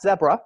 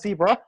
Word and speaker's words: Zebra: my American co-founders that the pronunciation is in fact zebra, not zebra, because it wanted to be international right from the get-go.